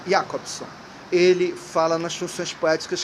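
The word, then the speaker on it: Jakobson: chamado Roma yakobson escreve jacobson é transliterado que o alfabeto alfabeto russo é outro né ao cirílico mas se pronuncia yakobson ele fala nas suas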